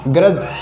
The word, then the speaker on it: grudge: अब पढ़ते हैं हम D के बारे में, D कब साइलेंट रहेगा, G से पहले यदि D आए तो D हमेशा साइलेंट हो जाएगा।